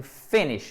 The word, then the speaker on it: finish: On finit, accent tonique sur la première syllabe. On finit, vous voyez, c'est sur la première syllabe. On n'attend pas la deuxième. Vous pouvez le retenir comme ça. Finish it.